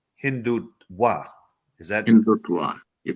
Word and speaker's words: Hindutva: Aki, this menace of Hindutva, actually the correct pronunciation is Hindutva.